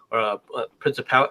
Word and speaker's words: Princip: We know that the people that were involved in it, Giuseppe, Principal. How do you say his name? Principe, something like that. I can't. Oh, but just Princip.